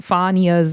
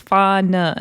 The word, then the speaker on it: Fania: Apparently, maybe we shouldn't have been that mad at Summer because I'm not gonna lie, I've heard so many people say Fania's name wrong. It's Fania. Everybody keeps saying Fania.